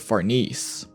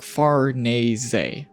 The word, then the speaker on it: Farnese: And therefore, I'm going to start with Farese. Also, I've since learned making the other videos that her name is pronounced something like Far N, but I've recorded like